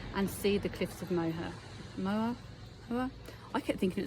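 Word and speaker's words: Moher: on the ferry and see the Cliffs of moha MOA I kept thinking it's Cliffs of mother you know what I'm but it wasn't two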